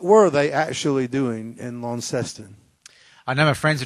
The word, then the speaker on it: Launceston: That's Launceston. We always Launceston. I'm glad to know that. Actually, we overpronounce our words, so Launceston.